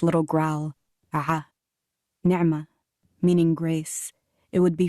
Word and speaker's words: Nima: this up nema well really it's nerma mispronounced at school to sound like the middle of the word animal or stretched into a whining nema no letter in english for the snarling sound that centers my name its little growl nerma